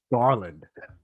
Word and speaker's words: Garland: been on shows and people can't even pronounce my last name and it's just garland it's pretty simple so uh so yeah